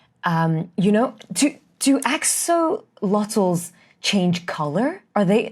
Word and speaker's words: axolotl: And perhaps they use a chemical or a substance that's released by, is it axolotl? Is that how you pronounce it? Axolotl? Axolotl.